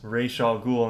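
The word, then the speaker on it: Ra's al Ghul: many pg-13 movies and i know that they mispronounced his name in the game too or in the movie sorry he was in batman begins played by liam neeson and yeah his name is ray shaw ghoul and that one they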